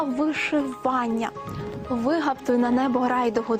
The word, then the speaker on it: вишивання: вишитий на чому-небудь візерунок правильно буде вишивка та вишивання ви на небо грай